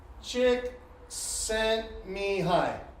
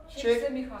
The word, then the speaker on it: Csikszentmihalyi: Csikszentmihalyi. Csikszentmihalyi. Csikszentmihalyi.